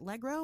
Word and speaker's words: LeGros: during your Jeremiah, during your interview with Shannon over at her Patreon, Shannon Legro, was it Legro, or is that how you say it? Shannon LeGros is how I say it.